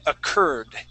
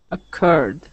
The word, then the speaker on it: occurred: happened okay very good so let's practice that word occurred occurred there you go so uh that uh that that you are we want to pronounce that like an IR sound occurred occurred occurred Ur